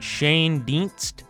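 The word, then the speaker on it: Schoendienst: Ops plus 45 War it's pronounced Shane de Shane de he was voted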